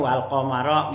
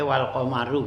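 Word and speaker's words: والقمر: Jadi bacanya walqamar boleh juga baca walqamaru gitu ya di sini.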